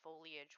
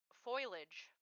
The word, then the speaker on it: foliage: fun fact monster hler Jen used to think foliage was foilage yep here's the thing here's